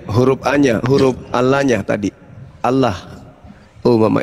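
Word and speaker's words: الله: Bukan alau itu. Itu Allah. Enggak ada di situ. Itu hurufnya tuh alif lamet lamet he. Itu alif lamet lamet alif he.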